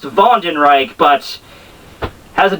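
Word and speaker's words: Wandenreich: first dagger is that Von and Reich is actually spelled with a W it's still pronounced ven Reich but has a w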